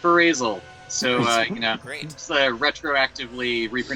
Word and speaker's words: Ferazel: break any illusions but it's supposed to be pronounced phrasal so retro actively reaper